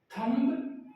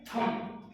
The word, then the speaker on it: thumb: जैसे एक वर्ड है THUMB, इसका प्रोनाउंस कीजिए थंब या थम, थंब या थम, इसका राइट प्रोनाउंसिएशन है थम, थम, ये थम होता है, थंब नहीं।